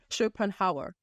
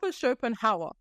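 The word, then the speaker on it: Schopenhauer: I can get it right and I'm still ARA shopan ha how shopen Hower okay ARA shopen Hower right Google or pick up this guy by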